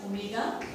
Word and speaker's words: omega: Average angular velocity is denoted by this letter W, looks like W but it is a Greek letter pronounced as omega, alright.